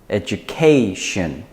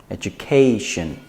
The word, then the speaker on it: education: put the stress before the shin so it's education education and the last one now this one is